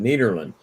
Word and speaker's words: Nederland: is nederland and uh that's the netherlands and i talked to some people from the netherlands and they said that's exactly how we pronounce it nederland yeah yeah that's neil